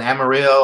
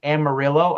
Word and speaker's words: Amarillo: hops in your beer I believe it's pronounced Amarillo I could be wrong kind of like that town in Texas so for Amarillo the